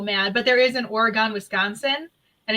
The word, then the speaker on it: Oregon: Say Oregon. Oh. Oregon? What happened? Because you said it. Some people say Oregon versus Oregon.